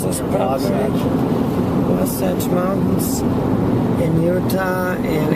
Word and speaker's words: Wasatch: Let me make sure I pronounce this properly. Wasatch Mountains in Utah, and it's the end of March, and it is snowing.